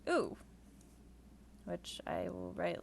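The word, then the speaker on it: う: It's pronounced oo, which I will write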